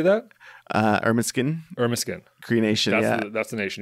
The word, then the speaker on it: Ermineskin: Ermineskin Cree Nation.